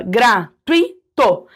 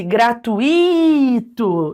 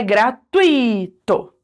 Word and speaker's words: gratuito: Como isso aqui é um ditongo, né? Eu tenho duas vogais na mesma sílaba, gratuito. O tui, ele é a pronúncia mais forte, aqui que tá a sílaba tônica. Se eu falasse gratuito, deixasse só o i como se ele fosse um hiato, eu estaria errando a prosódia da palavra, porque é gratuito.